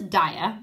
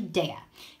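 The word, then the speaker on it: Daiya: Okay, so some of you guys call this Daya, but it's actually Daya. How I remember is a few years back they had these t-shirts and they said, have a nice Daya. So some of you guys mispronounced this company, and it's when you think about it, think of have a nice Daya. So it's called Daya.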